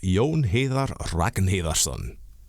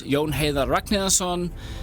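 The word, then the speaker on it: Jón Heiðar Ragnarsson: And I'm joined by my co-host Yon Hatherar Rakenherson. Again, excellent pronunciation, sir. You had it completely perfect. Yes, my name is Yon Ha Raknansson and I am the sales and marketing manager here at Lavashio.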